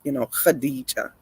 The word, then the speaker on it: Khadija: Usually a KH like that is Arabic's pronounced like with a harder h sound on it, like Khadija.